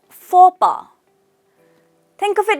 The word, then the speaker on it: faux pas: The pronunciation is faux pas. The letters X and S are silent. It's faux pas.